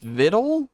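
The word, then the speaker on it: victuals: said entropy vid pronounced vidle rhymes with little as a verb it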